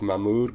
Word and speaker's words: Mahmoud: However, it was clear that his name was too foreign for my American self to be able to pronounce properly. It's Mahmoud, Gunnery Sergeant Jones.